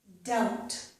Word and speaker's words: doubt: And I have doubt. Doubt. In this one, we don't pronounce the letter B.